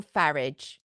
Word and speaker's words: Farage: Oh, Nigel Farage. F A R A G E rhymes with garage. Not the way he says it, but the way I say it, it does.